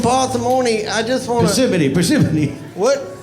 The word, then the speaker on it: Parsimony: Parsimony. What? It's spelled parsimony, but it's pronounced parsimony. Parsimony. Like Gethsemane, the garden that our Lord tended.